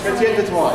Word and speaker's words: Chrétien de Troyes: Chrétien de Troyes, yes.